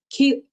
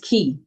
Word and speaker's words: Kea: Kea. Okay. It's pronounced key.